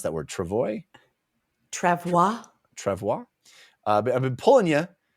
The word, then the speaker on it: travois: And this whole sequence is so rad where he's like, yeah, I've been pulling you on the how do you pronounce that word? Travois?